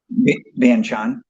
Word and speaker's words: Vientiane: How do you pronounce that? Vientiane.